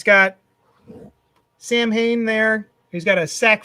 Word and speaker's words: Samhain: Also, interesting tidbit, the character's name is Sam Hain because that is how it's spelled. But it's pronounced Samhain.